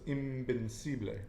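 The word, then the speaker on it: invencible: Because when you pronounce the V, it's actually like a B, so it's invincible.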